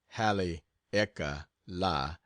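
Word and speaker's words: Haleakalā: I get back from Hal aala pronounced Hal EA La I will sail for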